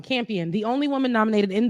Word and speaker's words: Campion: anyways in her speech champion so i've been saying her name wrong campion the only woman nominated